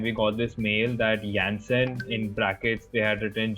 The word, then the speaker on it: Janssen: party, okay, and we got this mail that Janssen in brackets they had written J&J is coming to campus tomorrow. Okay, so it's JANSSEN.